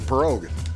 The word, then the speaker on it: pirogue: Yeah, the pirogue. Pirogue. Spelled like pierogi, but that's a pirogue.